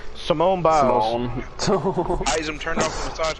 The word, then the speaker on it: Simone Biles: Simone Biles. Oh, I'm sorry. I did not mean to mispronounce her name like that. I said Simon too. Simone Biles.